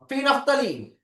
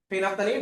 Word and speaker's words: phenolphthalein: Phenolphthalein. Phenolphthalein. Okay. Phenolphthalein. L is silent here. Phenolphthalein.